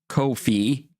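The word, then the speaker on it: Ko-fi: uh donate to that there's my coof fee that's how they want pronounced according to their tweet unless they bring out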